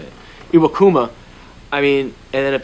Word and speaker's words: Iwakuma: you got iwakuma that's how you say it iwakuma I mean and then if they get Taiwan